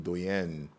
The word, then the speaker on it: Doyenne: But it's pronounced like Doyenne.